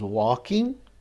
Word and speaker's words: walking: Então, I was working, I was walking, lembrando que esse L não é pronunciado, né?